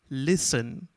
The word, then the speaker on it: listen: you know that you will easily get the silent letters first one all of you know very well listen listen l i s e n you can